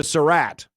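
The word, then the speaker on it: Sarratt: Omar Cooper 33rd Elijah Sarat I believe that's how you say it s a r r a t t he's 43rd kesan Williams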